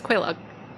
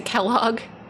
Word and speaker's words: Quaylog: It's Quaylog. People say Kellogg as a joke.